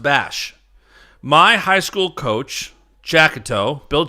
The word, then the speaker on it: Basch: My last name is pronounced Bash.